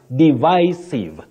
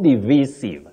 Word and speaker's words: divisive: That then, your second word, divisive, not divisive. Many people say divisive. That is inaccurate in English.